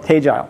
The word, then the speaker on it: Tegile: of those words and it's uh essentially called teile so for those of you uh from here